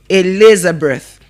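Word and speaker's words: Elizabeth: Not a d. A. The letter I there is giving us the sound e. So we pronounce it as what? A laser breath. It is pronounced as what? Elizer breath. And the th there is also giving us the silent sound th. So we don't say elizabet. But what? Eliser breath.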